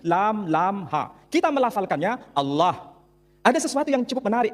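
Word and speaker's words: الله: Tidak ada seorang pun di kalangan masyarakat Timur Tengah ketika menjumpai istilah Alif, Lam, Lam, Ha, dibaca Allah. Tetapi mereka serempak menyebutnya dengan pronunciation Allah.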